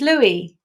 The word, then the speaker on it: Lui: your last name right I think I call it Lou is Louie yeah Louie you have a Goodness